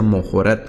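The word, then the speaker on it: מָחֳרָת: Mojorat, vean acá, parece la A, pero acá es una excepción y se pronuncia Mojorat, que es el día siguiente.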